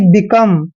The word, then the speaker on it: become: बी का उच्चारण हमेशा बै करते हैं, ई को छोटी की मात्रा पढ़ते हैं और COME का उच्चारण कम करते हैं, यानी कि बिकम।